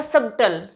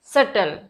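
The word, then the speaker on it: subtle: हो जाएगा नेक्स्ट देखिए अब ये तो मैंने बहुत लोगों को कहते हो देखो सबटल सबटल नहीं होता बी आप ये देखिए बस आप अपने माइंड में ये रूल याद रखिए कि टी से पहले अगर बी आ गया तो बी नहीं भूलेगा वहां पे बी साइलेंट हो जाएगा तो ये हो जाएगा सटल नॉट सबटल इट्स सटल next देखिए डेप्ट कहते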